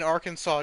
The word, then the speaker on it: Arkansas: just that the um as in arkansas just makes aw for some reason because they just really